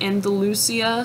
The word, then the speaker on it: Andalusia: And they are named for where they are found in Andalusia, Spain, I believe is how you pronounce that.